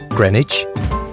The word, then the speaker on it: Greenwich: Greenwich.